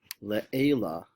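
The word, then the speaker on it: לְעֵלָּא: If you said le'ela, you were right. See the line under the ayin? That tells you to pronounce the accent on the ayin.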